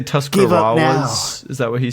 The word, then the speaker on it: Tuscarawas: So, it's Tuscarorus.